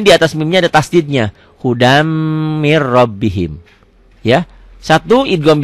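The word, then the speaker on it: هُدًى مِنْ: Ya, bacanya gimana hudan? Hudam.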